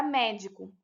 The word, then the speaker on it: médico: Acontece a mesma coisa com a palavra médico. Observe. Médico. A sílaba que possui mais intensidade é a sílaba mé, que é a antepenúltima.